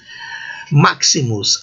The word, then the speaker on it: maximus: Maximus, a letra X representa sempre 2 fonemas, Q e C.